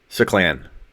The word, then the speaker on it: Suclan: Suclan. Like sup, like what's up? But without the P, so it's Suclan.